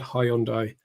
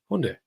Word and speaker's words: Hyundai: Yeah, we have to say it like that now. Not Hyundai. Hyundai.